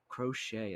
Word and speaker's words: Crochet: But if this guy, if he can come out here and be that ace, hold the fort until Mister Crochet, that is how you say it, until Mister Drew Thorpe comes up, because Drew Thorpe's the real ace.